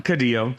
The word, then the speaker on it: Caudillo: Caudillo.